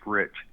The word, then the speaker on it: Reich: My last name is actually pronounced Rich, but it's spelled Reich.